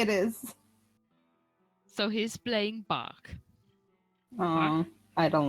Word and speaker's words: Bach: So he's playing Bach.